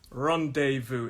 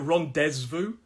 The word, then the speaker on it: rendezvous: in my head rendezvous so it looks like ron dezvou but we don't say the zed it's rendezvous and the last one